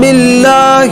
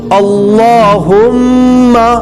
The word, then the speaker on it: اللہ: شروع کرتے ہیں۔ بسم اللہ الرحمن الرحیم۔ اللہم، یہاں پہ لفظ اللہ ہے، لفظ اللہ کو موٹا کر کے پڑھیں گے اور کہیں گے اللہم، اللہم، اس طریقے سے